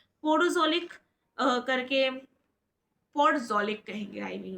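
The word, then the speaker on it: podzolic: पोजोलिक करके पोजोलिक कहेंगे I mean उसको प्रोनाउंस करेंगे।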